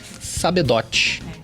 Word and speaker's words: Sabedot: Se pronuncia Sabedó? Sabedote. Sabedote, exatamente como escreve.